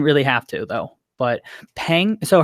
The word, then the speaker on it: Peng: But Peng, so her name is spelled Peng, but I think it's pronounced like Pang.